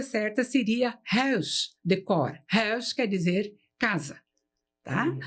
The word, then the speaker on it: Huisdecor: Então ficou ruis decor, não é assim? Isso é é mas a pronúncia certa seria house de core.